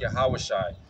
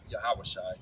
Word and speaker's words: Yahawashi: Christ Words of Christ because how you say his name in the Hebrew is hamashiach yahawashi the letter J didn't exist until 1524 so you couldn't even say Jesus in 151 yeah so the his actual pronunciation it's like if I called you uh uh Thomas that's not your name right so his actual name is yahawashi so that's why we